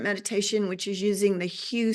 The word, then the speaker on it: HU: I pronounce it HU. HU. You'll hear Sufis pronounce it HU.